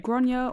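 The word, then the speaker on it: Gráinne: I'm going to try, Gronya. Gronya? Gronyyuh is what they've spelled as how it's pronounced. Generally pronounced Gronya or thereabouts, that's what they say.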